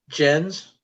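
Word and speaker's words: Gen: all you can eat is that jen or is it ken it's jen jen like jane yeah but the japanese translation is j-e-n but they spell it g-e-n so that's jen's um i'm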